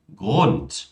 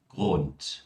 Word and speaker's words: Grund: Palavras que terminam com um D, elas são pronunciadas como um T. Como, por exemplo, Grad, Bad, Kind, Wald, Land, Grund. Falem comigo mais uma vez. Grad, Bad, Kind, Wald, Land, Grund. Ou seja, não é grad, né? Nem Bad, nem Kind, nem Wald, mas sim Grad, Bad, Kind, Wald, Land e Grund.